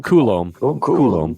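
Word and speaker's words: Coulombe: When the Orioles didn't sign, how does that guy pronounce his name? Coulomb. Coulomb.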